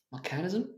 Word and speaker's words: mechanism: Mechanism 机械的吗 So technically I pronounce it.